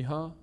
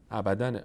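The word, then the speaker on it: أبدا: اینجا باید ابدا بخونی تنوین ان یا تنوین نصب هر جایی که روش وقف کردیم دیگه که صدای نون تلفظ نمیشه الف تلفظ میشه این الفی که اینجا میاد به خاطر اینه که اگر وایستادیم روی این کلمه نباید ابداً بخونیم باید بگیم بگیم بگیم ابدا ابدا خالدین فی ابدا مثلاً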